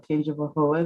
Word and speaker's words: Tangipahoa: So very good, Deanna, in the pronunciation of Tangipahoa.